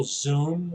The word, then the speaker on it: Xoom: So, you know, now there's also Zoom, which is spelled XOOM, not ZOOM.